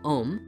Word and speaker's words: Om: reality and are represented by the AUM reflecting the trimurti in three letters though pronounced more like om which is the sound